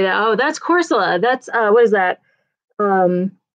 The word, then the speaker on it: Corsola: Oh, that's Corsola.